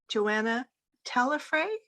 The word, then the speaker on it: Joana Talafre: I'm delighted to introduce you to Joana Talafre.